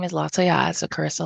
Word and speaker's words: Lataillade: My name is Cararissa and my last name is Laya. So, Cararissa Laya, but you can call me Cararissa.